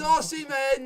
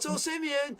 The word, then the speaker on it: Osimhen: It's Osimhen, not Osimhen. Learn to pronunciate names.